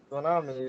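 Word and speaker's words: tsunami: say there is um a word TS u n a m i it is uh tsami tsami sonami so it will be a difficult for me to pronounce because T and S it's t is silent here so it will be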